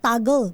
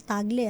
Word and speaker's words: Tagle: mga napapanood ko ang ang tawag nga sa kanya ang pag-pronounce sa kanya apelido ay toggle cardinal toggle no pero sa atin siya po si cardinal tagle first time po na